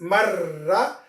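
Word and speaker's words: مَرَّة: This marra will be pronounced actually mar and ra.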